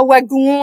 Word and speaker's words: wagon: d'accord mais oui oui pour la prononciation on va prononcer un wagon un WC et pas le W comme le V vu le le contact en fait avec des langues proches de l'anglais par que néerlandais est une langue de la